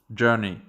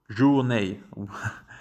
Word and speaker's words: journey: Journey. Ça se prononce journey et non pas journée.